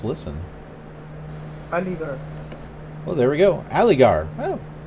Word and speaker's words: Aligarh: We are currently 58.2 miles from Aligarh, A-L-I-G-A-R-H. So let's look up some interesting facts about Aligarh. Or Aligarh. Aligarh is a city, and listen. Oh, it says listen. Aligarh.